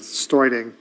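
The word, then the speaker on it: Steuding: David Studing, S-T, actually I believe he pronounces Stoiding, S-T-E-U-D-I-N-G.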